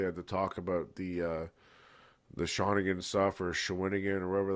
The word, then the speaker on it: Shawinigan: Shawinigan.